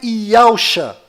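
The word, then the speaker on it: יהושע: E a pronúncia é Yahushua.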